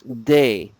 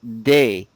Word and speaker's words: des: So that's a in the singular form, but in the plural, okay, un and une both become des, day. Repeat, day. Des.